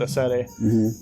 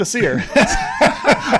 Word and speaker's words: Acere: uh with a seti i just got so tired of educating people on how to say it and they came in here and kept saying to see her i was like you know what so let's go with a seer okay you're driving some